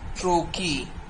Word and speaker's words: trochee: Similarly, if the first syllable is accented and the second syllable is unaccented, then it will be called trochee.